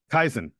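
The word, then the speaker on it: kaizen: Shire has brought to the team it's called kaisen they didn't quite pronounce it perfectly I looked it up kaisen is what it is called and kaisen is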